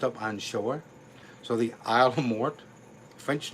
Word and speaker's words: Isle aux Morts: We say Isle aux Morts. Technically, it means Island of the Dead. There's a shipwreck and all of the dead people washed up on shore. So, the Isle aux Morts.